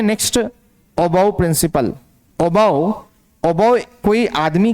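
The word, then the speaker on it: Aufbau: है ओ बाउ principle of बाउ नहीं पढ़ना अबो एफ को साइलेंट कर दो एफ समझो नहीं है और अब पढ़ो above above principal the vacant सब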